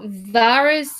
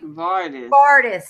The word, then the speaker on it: Vardis: the household guard at the Vale named Sir Varys or something. Yeah. Vardis. Sir Vardis. Vardis. Okay. Because I didn't know how it's spelled since I don't have the actual book.